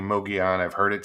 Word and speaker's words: Mogollon: the yawn the ls the double l is like spanish free like the uh sound oh um but it's me yeah it's pronounced some say muggy on but i i've been saying mogi on i've heard it said